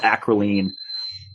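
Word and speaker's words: acrolein: down into toxic byproducts like acolan uh sometimes people pronounce it acryline uh and that is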